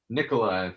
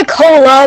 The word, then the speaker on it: Nicola: oh sorry it's um it's really nicola but people call it